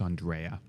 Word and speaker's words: Andrea: It's Andrea.